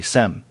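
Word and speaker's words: Cem: Well, someone by the name of Kem Silamet, and his name is spelled C-E-M, his first name, and I'm hoping I pronounced that correctly, Sem.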